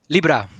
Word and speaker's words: Lybra: How should we pronounce it now? Libra or Libra? Libra. Always Libra.